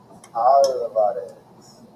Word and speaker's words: Alvarez: But I said our name to myself, opening my mouth wide for the organ blast of ah, trilling my tongue for the drum roll of the Alvarez.